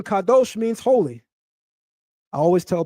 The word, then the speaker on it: Kadosh: The pronunciation Kadosh means holy.